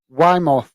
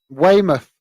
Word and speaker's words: Weymouth: we also have uh um Wimbledon playing with Weimar Weymouth I never pronounce that name Weymouth on uh Saturday so